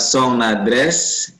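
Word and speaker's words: son adresse: Ya, ini ada song, dibaca song dulu, song baru nadres. Tua song nadres, ya.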